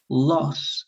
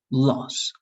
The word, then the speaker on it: loss: So this is loss and this is lows, all right? So loss, like a very dried O, all right?